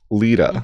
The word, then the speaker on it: Lita: you George what is your name again Lita Lita how do you spell that l i t a okay got it